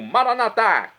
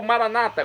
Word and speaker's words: Maranata: e agora eu clamo maranat como dizemos nós católicos ou Maranata como dizem nossos irmãos separados os evangélicos ou Protestantes não importa a pronúncia o significado é o